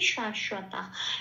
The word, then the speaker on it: শাশ্বত: বকে আমরা কিভাবে উচ্চারণ করবো, 2 নম্বরে তালিকাভুক্ত করে দেওয়া আছে ও প্লাস ওয়া, সেই জন্য এখানে বলতে হবে শাশ্বা।